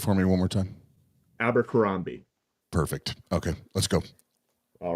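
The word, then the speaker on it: Abercrombie: kambi there you go abber kambi well it's abber kambi is how I have always heard it pronounced can you say it for me one more time abber kambi perfect okay let's go all right well I'm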